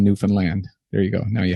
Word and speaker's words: Newfoundland: That's how we pronounce it, is Newfoundland. Everyone who from outside this place pronounces it Newfoundland or Newfoundland. So the simple little mnemonic we give them is understand Newfoundland.